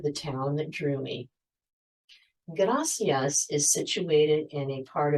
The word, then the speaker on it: gracias: The pronunciation of the single R in Spanish, a motion called the alveolar tap, makes the word gracias roll off your tongue.